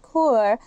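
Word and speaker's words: QoR: in high quality paints the core water color pronounced core line is made with a special binding agent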